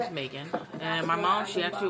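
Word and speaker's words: Meagan: Not M E G A N. A N which is pronounced the same Megan but um but I have a A in my name spelling cuz there's a lot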